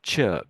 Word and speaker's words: chirp: Chirp is is more of an sound.